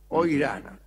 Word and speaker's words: Ojrana: Oirana, se escribe con J, Ojrana.